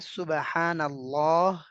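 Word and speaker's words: سبحان الله: আরবিতে হচ্ছে সুবহানাল্লাহ, আস্তাগফিরুল্লাহ।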